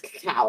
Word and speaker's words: cacao: every time I read cacao I read as cacao it's not Coco Cocos will see o-c-o that's